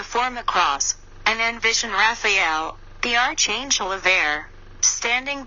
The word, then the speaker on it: Raphael: before me and then vibrate Raphael pronounced Raphael to visualize Gabriel the